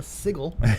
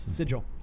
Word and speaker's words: sigil: the spell exploding sigle Sig sounds ridiculous sigil sigil so this uh yeah